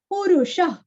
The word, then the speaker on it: पुरुषः: फ का उच्चारण, काकुत्स्थ, पुरुष, पुरस्व, रुरस्व और विसर्ग का उच्चारण हल्का सा ख, पुरुष, पुरुष, पूर्ण, पू दीर्घ